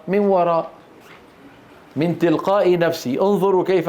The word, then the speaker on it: وراء: الوقف على الهمزة المرسومة ياء. في بعض الهمزات رسمت على ياء، هل تنطق الياء؟ لا تنطق، لا تنطق. ومن وراء حجاب، من وراء. انظروا كيف كتبت، هكذا كتبت. طيب كيف نلفظها؟ من وراء، من تلقاء نفسي.